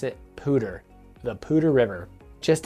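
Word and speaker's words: Poudre: of people are like poodray the pudre and and maybe i'm pronouncing it maybe we're pronouncing it wrong here in four columns but the locals pronounce it pooter so if you're gonna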